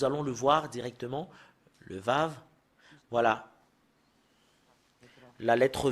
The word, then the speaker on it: ו: C'est V qu'on le prononce. Voilà le fait de l'écrire en hébreu. C'est comme le prime, un peu bizarre. Et si vous voyez ce lettre, c'est Vav. Et le fait de le prononcer, c'est V.